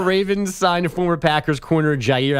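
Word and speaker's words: Jaire: Uh the Baltimore Ravens signed former Packers corner Jier Alexander. That's pronounced Gier.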